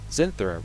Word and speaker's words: Zynthra: if you go over uh zinthera right that's how you pronounce it cynthia yeah if you